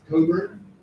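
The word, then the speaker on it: Cockburn's: the name looks like it's pronounced proper it's pronounced Cobert it's a Scottish name the CK's and there's a very nice fourth wine from Portugal so Coburn's port and they spend hundreds of thousands of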